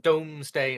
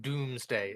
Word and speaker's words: Domesday: It's actually pronounced Domesday instead of Doomsday, and I think that little pronunciation difference is kind of key for the wording.